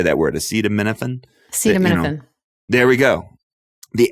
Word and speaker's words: acetaminophen: Acetaminophen?